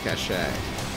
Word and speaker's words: cache: That's right, I pronounce it cache. People were giving me guff for pronouncing that word cache rather than cash. I'm like, it's a French word. I'm allowed to pronounce it the French way.